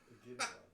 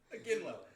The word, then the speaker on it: Iginla: Ignala. Iginla. Iginla. kidding. It's my highest score, like goal scorer ever. We've had several mispronunciations.